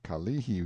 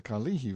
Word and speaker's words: Kalihi: a picture as the Kalihi Valley pronounced stress on the second syllable all citizens talk about